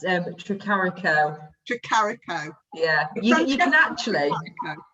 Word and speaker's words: Tricarico: So how do you pronounce your surname? It's Tricarico.